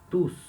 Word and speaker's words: tous: Então, por exemplo, quando eu quero agradecer a várias pessoas, né, eu posso falar merci à tous. Aí nesse caso eu pronuncio o S.